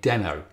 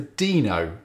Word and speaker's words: Deno: Now, being British, I started calling it Deno. And so did Ryan Dahl in his early videos. But most people seem to opt for Deno, and that's possibly because it's spelt the same as Reno in Nevada, or because its logo